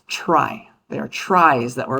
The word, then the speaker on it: trie: like this, but and it comes from the word retrieval, but we pronounce this data structure as try.